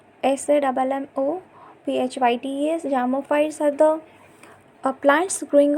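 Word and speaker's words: psammophytes: And zamophytes are like a P, here the P is silent. SAMMOPHYTES.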